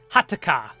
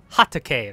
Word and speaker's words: Hatake: Kakashi. Hataka. Hateka. God dang it. I can't say it. Shit. Yo, okay. No. Yo. I butchered that, okay? I'm sorry. It's Kakashi Hatake, right? Hatake. Kakashi Hatake.